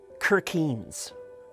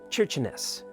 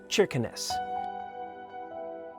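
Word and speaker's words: Kirkenes: talk about the name it looks like it's pronounced kirens at least it was for me but it's not not by a long shot it's actually pronounced churin or cheness I got more than I bargain for on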